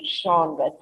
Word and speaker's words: genre: And how do you pronounce that? Genre. Yes, you heard me right. Let me pronounce it once again for you. It is pronounced as genres.